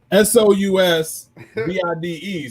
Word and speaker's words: sous vide: SOUSVIDE. So I'm but it's, I believe it's French. Don't really? On that, but something like that. So it's pronounced sous vide.